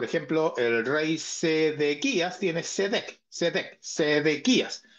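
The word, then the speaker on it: צדק: justicia la palabra justicia en el hebreo es seet así como se escribe s e q Perdón s e d e q cedec cedec dije sequ lo dice al revés cedec Esa es la palabra y esta palabra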